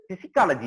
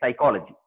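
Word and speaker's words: psychology: இது பிசிக்காலஜி இல்ல, சைக்காலஜி.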